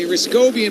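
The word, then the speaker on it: Hrycowian: Ryscobian, by the way, spells his last name. H R Y C O W I A N. So, the H is silent.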